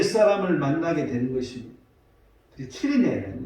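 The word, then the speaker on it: Cyrene: 할 때 그때 시몬이란 구레네 사람을 만나게 되는 것입니다. 키리네, 원래 발음 키리네인데 우리나라 성경 구레네로 이렇게 번역을 하고 있어요.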